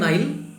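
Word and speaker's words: Nile: English উচ্চারণ হবে নাইল, কিন্তু বাংলায় নীল নদ।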